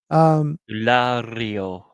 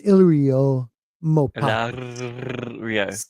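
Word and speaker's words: Illyrio Mopatis: that would be crazy I always say his wrong name wrong umio no it's ILO mopio he's a SE WR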